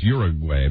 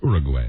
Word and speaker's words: Uruguay: Yeah, when we all went to school, they told us Uruguay, but really the correct pronunciation is Uruguay.